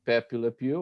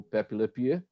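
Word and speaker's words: Pepé Le Pew: a presença do personagem Pepe le pew ou pepelaria As duas pronúncias são válidas né é o perfil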